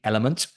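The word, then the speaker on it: LMNT: so I take it with my um LMN element so it's a electrolyte I if you not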